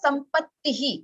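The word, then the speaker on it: सम्पत्तिः: Just one more rule I want to share about the visargas. So जैसे इधर संपत्ति है, हाँ, इकारांत के बाद विसर्ग है, तो the विसर्ग will sound as इही, संपत्ति.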